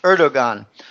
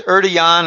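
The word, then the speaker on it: Erdoğan: mispronounced the name but I'll just pronounce it how it looks in English erdogan uh I hear it's erdan or something like that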